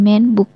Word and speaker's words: men: Ia memanggil semua orang dengan sebutan men, yang benar-benar dilafalkan man bukan men seperti pengucapan dalam bahasa Inggris.